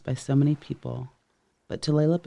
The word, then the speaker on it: Tulalip: Tulalip, Tulalip. The name is mispronounced by so many people, but Tulalip is nearest to the right pronunciation for the Snohomish Indian word Duflalop, which means the long bay.